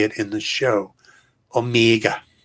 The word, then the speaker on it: Omega: Omega. Like it's the longest E ever.